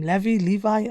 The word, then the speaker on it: Levy: From Pochettino's perspective, is his name Levi? I never know how to pronounce it. Levy, yeah.